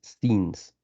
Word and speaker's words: scenes: My holidays scenes, right? You don't pronounce the E, but the pronounce is like that. Scenes.